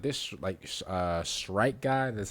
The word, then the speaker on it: Shrike: Bro, I'm gonna be honest with you, like this Shrike guy, that's how you say it.